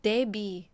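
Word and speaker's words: debt: Don't think you pronounce B in depth. So it's that really why would people just put B in there? They always pronounce B. But why they decide to not pronounce B in that like Deb?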